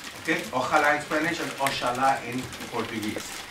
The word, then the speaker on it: oxalá: It's not pronounced as J. Ojalá. Okay? Ojalá in Spanish and Oxalá in Portuguese.